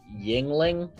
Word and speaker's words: Yuengling: I actually think it tastes better than Rainier, but the locals pronounce it Yingling, but it's spelled Yuenglings.